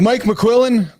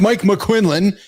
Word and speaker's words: Mike McQuillan: We're hanging out with Mike McQuillan, proper pronunciation, not Mike McQuinlan and not Keith Bill.